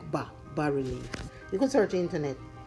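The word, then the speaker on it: bas-relief: This kind of design is called, bas relief. It's pronounced B-A-S, but it's actually, I mean, it's spelled B-A-S, but pronounced B-A, like bas relief.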